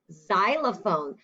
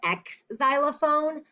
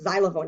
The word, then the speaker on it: xylophone: and that word is xylophone sometimes people call it an x xylophone but other people call it xylophone it sounds like a z sound doesn't it yeah okay next word